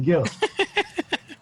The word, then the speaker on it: Gil: It's just Gill. Of course, in Spanish, the G is pronounced H. Yeah, Hill.